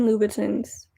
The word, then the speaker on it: Louboutin: She got herself some Christian Louboutins. Louboutins? It's spelled with an I, but it's French, so Louboutin.